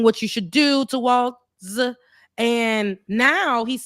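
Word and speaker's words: Walz: And she Walls. That's how you pronounce it, because I need to get the white man. Walls. Yeah, Walls. Okay, so because I want to say it in the way I would think that white folks would say it, Waltz. Okay, so it's Walls. So you pronounce the Z.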